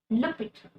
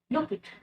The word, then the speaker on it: l'hôpital: Put L apostrophe l'hôpital, l'hôpital. In the first word of the word hospital, we're gonna put the L apostrophe because it starts with letter H. And it's gonna be pronounced as l'hôpital, l'hôpital.